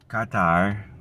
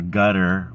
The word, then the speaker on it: Qatar: And then of course they're talking about Qatar or Gutter or Qatar. Now, hello Gutter. Qatar and Qatar don't even sound alike. So what is it? Pick a pronunciation and let's use it. And let's use the pronunciation of the people that live there. If they say gutter, let's say gutter. If they say Qatar, let's say Qatar. If they sayQatar, let's say cutter.